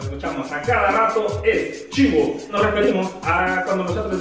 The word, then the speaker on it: cibo: Ojo, se escucha chivo, pero se escribe cibo.